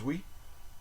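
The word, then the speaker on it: oui: like Beyonce beond we we know we everybody knows we it's O UI French O UI is I don't know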